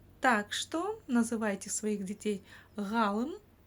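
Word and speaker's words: ғалым: В общем, ударение ставится на букву А, на предшествующую ей.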